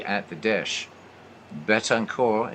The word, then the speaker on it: Betancourt: Betancourt, and yeah, I'm using the French pronunciation, the 1-1 pitch.